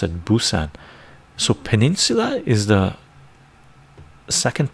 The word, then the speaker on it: Busan: Oh, that's the way we pronounce it, Busan.